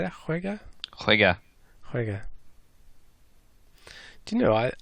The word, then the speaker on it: juega: Usted juega al baloncesto.